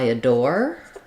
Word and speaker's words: adore: phrase I adore, and whether it sounds the same as I uh door. Um so, that would be a way to rewrite this phrase, yes. Um We stress on the door syllable of adore. Thinking about as long as you're pronouncing this this um article a with the with the schwa, that's how we would do it.